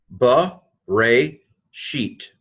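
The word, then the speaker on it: בְּרֵאשִׁית: buh ray is how you promise these two syllables bow to a and this is a sheen here code Tov buh ray sheet but a sheet in beginning of or in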